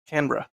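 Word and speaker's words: Canberra: uh how I'm pronouncing it's canra sorry canra it's technically it's two syllables canra that's hard it's hard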